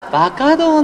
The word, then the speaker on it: 馬花道: バカ道の皆さんです十和田市で活動しているバカ道です馬の花道と書いてば稼働十和田市が誇る